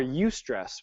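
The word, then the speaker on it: eustress: a lot of stress or you stress which is spelled EU stress so a good example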